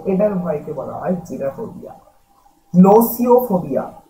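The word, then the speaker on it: gnosiophobia: নোসিওফোবিয়া, পরের উচ্চারণটা দেখো, জিটা সাইলেন্ট থাকবে, জি এন ও এস আই ও পি এইচ ও বি আই এ।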